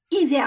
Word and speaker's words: hiver: مي أنا عندي هذه سي إيفير كيما هنا إيفير. الآش باللغة الفرنسية ما تتنطقش. صافي هنا راح تروح او اي او. هنا ما نقولوش ها.